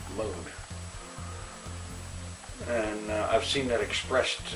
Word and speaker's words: Mun: Well, Kerbal's moon, the one that is spelled M-U-N. A lot of people I see call it Mun, but I don't believe that's the proper pronunciation. I believe it's spelled M-U-N, but it's still pronounced moon.